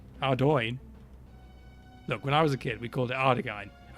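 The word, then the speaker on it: Ardougne: Oriana altar, the one near Ardaghine. Oh no, I've said that wrong as well. Ardoin.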